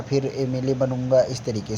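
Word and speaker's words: MLA: एन का प्रयोग उन संक्षिप्त नामों के पूर्व भी करते हैं जिनका प्रारंभ कॉन्सोनेंट से हो किंतु उच्चारण हिंदी के वोवेल से हो। देखिए एम एल, आप लोग एमएलए सुनते हैं ना, मूवी वगैरह देखते होंगे तो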